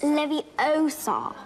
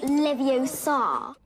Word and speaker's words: Leviosa: Besides, you're saying it wrong. It's Leviosa, not Leviosa. Now HBO is filming a